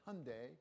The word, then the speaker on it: Hyundai: to ask how did Hyundai get so cool it's an EV rhymes with Kev and it's not just